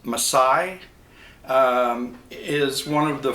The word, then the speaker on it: Masai: wooden shell and I believe this model it's pronounced msai um is one of the four or five